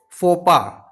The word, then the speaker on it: faux pas: The next word which we are going to discuss, it's written as faux pas, but it is pronounced as faux pas. Faux pas.